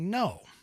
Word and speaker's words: Ngo: by the name of andy no and his last name is spelled ngo he's been doing a